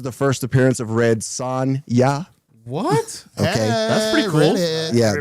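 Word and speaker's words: Sonja: is this is the first appearance of Red Sonya what that's pretty cool yeah that's and that's literally how Conan actually pronounces it son- ya Sonia very cool it was a lot of fun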